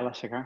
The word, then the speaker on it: Alessia Cara: the outstanding person whose name I hope I pronounce right, Alessia Cara. Yeah, Alessia Cara.